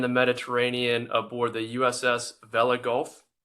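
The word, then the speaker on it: Vella Gulf: Black Sea and the Mediterranean aboard the USS Vela Gulf. Pronounce that right, Karina?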